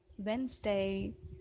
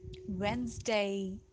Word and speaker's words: Wednesday: day this is not d is silent here and the pronunciation would be wednesday wednesday wednesday yes wednesday we